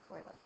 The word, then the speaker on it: Euler: Remember, it looks like Euler, but it's pronounced Euler.